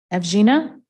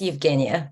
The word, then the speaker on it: Eugenia: may have thank you evgena please tell me how to pronounce it properly it's Eugenia but you got it pretty close you get it okay go